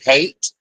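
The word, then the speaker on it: Haight: area of San Francisco known as the hate but it's spelled h a i g ht again you know is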